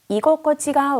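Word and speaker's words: 居心地: 이곳꼬치가 와루이라고 읽고요. 이 코에 니고리가 생기죠. 땡땡.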